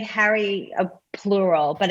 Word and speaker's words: Harries: our show and how do you say your last name i'm not gonna i hate to screw up last names i do it all the time that's all good it's harry so it's like harry a